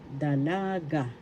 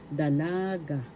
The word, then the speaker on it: dalaga: daan single unmarried lady Dalaga first syllable the second syllable la third syllable ka the accent is in the second syllable dalaga dalaga dalaga single and